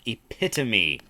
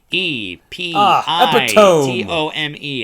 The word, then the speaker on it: epitome: this month's vitamin happens to be the word epitome e p i t o m e and yes I did pronounce it the same way that Donald just